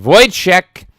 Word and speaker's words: Wojciech: Paul says, that Polish guy's name is pronounced Wojciech.